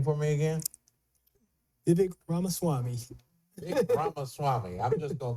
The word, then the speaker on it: Vivek Ramaswamy: And the last thing that was said, I was bringing up the conversation that, pronounce his name for me again? Vivek Ramaswamy.